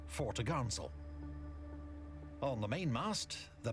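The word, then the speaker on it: topgallant: sale pronounced topsail and four top gallant sale pronounced fortagansel on the main mast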